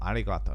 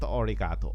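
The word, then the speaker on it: ありがとう: Japanese thank you orato Arigato Arigato not orato arato okay anyway um what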